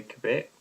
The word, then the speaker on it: Quebec: It's obviously Quebec, so people can hear how it rhymes with Tibet.